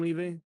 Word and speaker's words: Levi: Like I don't like the way they did Angstrom Levi or Levi. How do you say it? It's Levy. Levy.